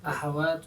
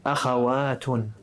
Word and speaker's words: أخوات: Oh, with a fatha at the beginning. أخوات. أخوات. أخوات. أولئك النساء أخوات. Very good. Remember, أخوات is for أخت.